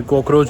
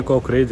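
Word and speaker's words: kokoreç: ये कॉकरोच नहीं है, कॉकरेज है, तो इसकी प्रोनाउंसिएशन का ध्यान रखना।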